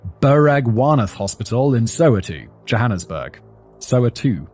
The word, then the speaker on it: Soweto: Soweto, not Soweto. Oh, I've always pronounced it Soweto, but apparently it's Soweto.